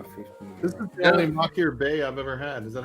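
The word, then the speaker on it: Machir Bay: This is the only Makir Bay I've ever had.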